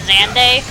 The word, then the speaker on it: Xande: I think it's a Xande. That's how you pronounce his name.